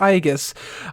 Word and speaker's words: Aegis: It's actually pronounced Aegis. For some reason, I thought it was Aegis.